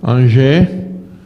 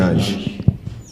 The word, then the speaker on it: Ange: So it's going to be from this end, Angers. Ange, Christian Ange. Pronunciation corrected for me, not being Lucian born, Ange.